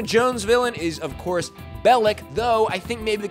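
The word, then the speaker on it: Belloq: villain is of course Bellic though I think maybe the confusion came from at one point in the movie Salah mispronounces his name Bell Lo and in the MC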